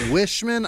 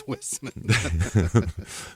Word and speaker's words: Whisman: your last name yeah I got wishman I got Weissman I never nobody ever says whisman my favorite mispronunciation was a Jim teacher who did it for a year and a half and called me for a year and